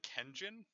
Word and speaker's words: Kangion: Also, it's apparently supposed to be pronounced like Kenjin, because it's supposed to be like pigeon, but Kangion works so much better.